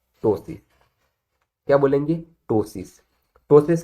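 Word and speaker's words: ptosis: That is अ टोसिस, वी कैन नॉट से अ पटोसिस, ठीक है, because P is silent, we will pronounce it एज अ टोसिस।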